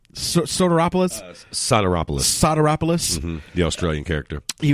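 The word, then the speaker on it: Sotiropoulos: How do you pronounce his name? Soteropoulos? Soteropoulos.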